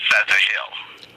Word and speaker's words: Ptahil: Well, the ancient phonetics of the P is F sound. Right. So it's PTAHIL.